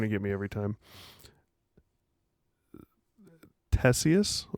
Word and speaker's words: Ctesias: Ctesias or Ctesias. It starts with a C, a CT. Okay. Not sure on the pronunciation. I would assume it's a silent C.